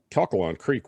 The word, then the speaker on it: Calcalong: very extensively studied uh how do you say it catholic calcalong c-a-l-c-a-l-o-n-g uh sort of like calculus but not quite all the way there so calkalon creek was studied very extensively